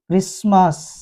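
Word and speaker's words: Christmas: जाता है कासल या टी के बाद ई एन लगा हो तो भी टी साइलेंट हो जाता है अफन लिसन क्रिस्मस एक स्पेलिंग यह भी है जिसमें ई के बाद एम होने की वजह से यह साइलेंट हो गया यू यू के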